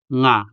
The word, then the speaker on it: nga: Now let's scratch out the first syllable sa and say only the second syllable nga. In a way, we say sa in our head and saying nga out loud.